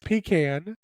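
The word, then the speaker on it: pecan: and worth are correct it is pan it is pronounced pan pan because you get it from the south so you have to listen to us from the South if you don't y'all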